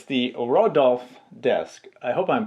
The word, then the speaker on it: Rodulf: It's the Rodulf desk. I hope I'm pronouncing that correctly. Rodulf. Not like the reindeer Rudolph, but it's Rodulf.